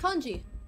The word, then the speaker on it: congee: It's congee. Congee. Congee. Oh my god. The fact that you mispronounced that.